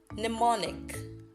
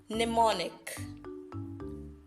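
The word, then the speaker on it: mnemonic: slly n niic now let's take it together pneumonic one more time pneumonic I know I know you're asking but there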